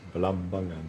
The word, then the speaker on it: Balambangan: Because you have to put the stress. I find that you put the stress on the second syllable. Yes. Balambangan.